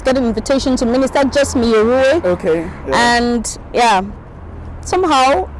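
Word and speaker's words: Miyruwe: Did I get the pronunciation? Yeah, Miru.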